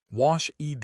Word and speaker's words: washed: Wash ED equals washed. SH is unvoiced.